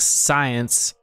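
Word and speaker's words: Xyience: drinks called it's called it's pronounced science but it's like xy here it's like yeah it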